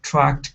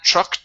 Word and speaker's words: truck: to the word truck now you added a t sound at the end saying when when that truck came okay so take off that t when that truck came